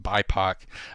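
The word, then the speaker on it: BIPOC: where uh it's uh b or pronounced bipo uh which stands for black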